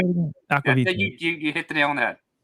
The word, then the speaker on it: Aqvavitae: Aqvavitae.